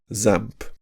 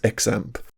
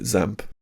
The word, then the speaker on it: XAMPP: way to learn using something like zamp I've also heard it pronounced xampp but let's call it zamp if you aren't doing